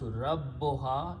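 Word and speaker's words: ربها: Okay, so first cut is that join these two words, they will be pronounced Rabbuha.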